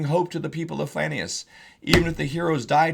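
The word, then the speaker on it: Flanaess: The Flanius, pronounced the Flanius or the Flanes, is another name for Eastern Auric and means the land of the Flan.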